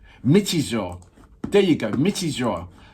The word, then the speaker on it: Michizure: In our previous episode going viral, the first take of sorry, I'm gonna go back to it to pronounce it right. Michizure.